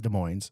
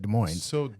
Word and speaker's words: Des Moines: you say de Mo he says De Moines I've always said de Moes and everybody makes a